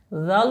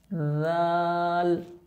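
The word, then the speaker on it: ذال: ধাতের আগের সাথে লাগাইছিলাম জাল উচ্চারণ করার সময় আমাদের জিহ্বার আগা উপরের দুই দাঁতের আগের সাথে লাগবে জাল জাল র সিন তিন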